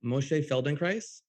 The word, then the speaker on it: Moshe Feldenkrais: Moshe Feldenkrais. I pronounced that right? You sure did, yeah.